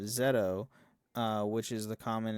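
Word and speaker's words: ゼット: Hi Nou Kagayyama is saying zed is simply isn't pronouncing the o at the end of zetto uh which is the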